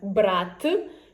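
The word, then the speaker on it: брат: For example, we have "brat" which is brother and "brat'" which is to take. So, the last sound in the first word is "t" hard one and in the second word it's soft one "t'".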